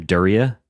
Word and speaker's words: Daria: How do you pronounce her name? Daria.